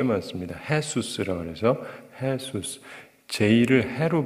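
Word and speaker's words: Jesús: 해수스라 그래서 해수스 제일를 해로 발음을 해요.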